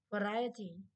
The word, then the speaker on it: variety: Ok, variety, variety, variety mà vị trí của nó cũng khác mà. Cái này mà variety, variety. Đấy, trọng âm 2 luôn đấy.